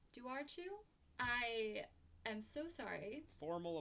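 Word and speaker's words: dobhar-chú: hound hybrid called the do archu do archu i am so sorry formal apology ireland ireland there's a bee in there but the b is not in the pronunciation but like is it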